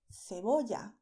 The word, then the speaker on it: cebolla: So, if you are in Spain, you would say normally cebolla. In many Spanish-speaking regions in Latin America, people would say cebolla instead.